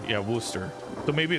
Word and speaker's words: Worcester: Worcester is pronounced Worooster. Yeah, Worooster.